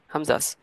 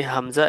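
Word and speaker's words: ء: কণ্ঠনালীর গোড়া বা শেষাংশ থেকে আমরা দুইটা হরফ উচ্চারণ করি, হামজা এবং হা। হামজা এবং হা, একদম সিম্পল কথা। বাংলায় বললে যে কণ্ঠনালীর গোড়া থেকে হামজা উচ্চারিত হয়, শেষ।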